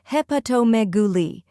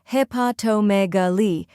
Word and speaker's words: hepatomegaly: Third part, megaly, stress the me and end with a soft li. Put it all together, hepatomegaly. Now repeat after me, hepatomegaly.